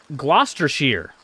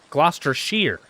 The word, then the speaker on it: Gloucestershire: Sheer not shire. Sheer. Okay. All right. I'm going to try this one more time. Gloucestershire. Gloucestershire.